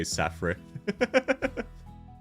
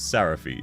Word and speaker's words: Sarafi: I say my name a lot on stream because people say Safre. That's pretty funny. Based taste? Based on what? True! And yeah, sorry, I've been saying Sarifi. It's Sarafi.